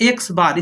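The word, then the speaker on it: x̄: यानी कि pronounced as X बार।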